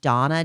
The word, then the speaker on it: Dana: It's called Daily Dose of Donna, but she spells it like Dana, D-A-N-A, but it's pronounced Donna, Daily Dose of Donna.